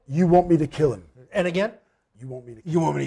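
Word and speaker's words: U Want Me 2 Kill Him?: to kill him now it's spelt you as in the letter u or one word want me number two kill him so it's not split up it's all one word how do you say it you want me to kill him and again you want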